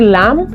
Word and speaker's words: lamb: Okay, so when letter B is followed by letter M, it becomes silent. We don't have to say lamb. No, we say lamb, Tom, nom, climb, Tom, and limb.